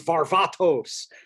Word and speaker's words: Varvatos: Yeah, I'm sure the Greek ancestors are pissed that it's called Varvatos. It's Varvatos.